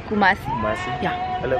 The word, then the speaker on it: Kumasi: Am I pronouncing it correctly? Kumasi. Kumasi. Yeah. Hello. Kumasi.